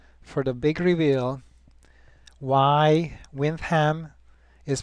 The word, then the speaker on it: Windham: now stay tuned for the big reveal why wiam is pronounced as such and not wind them